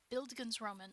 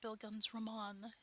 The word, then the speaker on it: bildungsroman: For instance, To Kill a Mockingbird is quite often quite often the first time kids learn the word bild- bildungsroman, or bildungsroman. It's pronounced both ways.